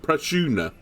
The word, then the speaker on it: Prajna: I've been calling this Vestal Prana, or Prajna. Apparently it's pronounced Prashuna. I believe that is now correct. I was told phonetically in the comments it's Prashuna, so I will try and